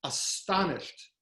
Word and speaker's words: astonished: saying that she is astonished. The middle syllable is S-T-O-N, as in stone, as in Wollstonecraft.